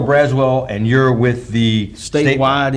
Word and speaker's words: Braswell: Braswell. Correct, yes sir. I'm not great with pronouncing names. Sherrill Braswell, and you're with the Statewide Insurers Group.